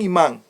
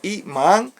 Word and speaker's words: imán: muy importante conocerlo ahora un imá pronunciado Así imá es un término utilizado en